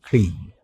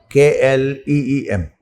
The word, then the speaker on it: Kleem: It's also the protecting Beejakshara, Kleem. K-L-E-E-M, Kleem. Aim, Kleem. And Sauh. Next syllable is Sauh.